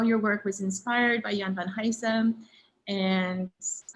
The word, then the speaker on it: Jan van Huysum: Jan van Huysum, is that how you would pronounce his name?